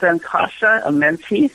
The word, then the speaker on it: Ankasha Amenti: It's Ankasha Amenti. That's okay. It's phonetically correct.